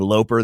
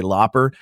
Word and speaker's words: Loper: on the planet that people would mispronounce my name for instead of saying Loper, they would say Looper.